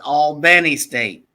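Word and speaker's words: Albany State: order go for it when you say Al it's Al Benny State remember you gotta say it right you correct yeah you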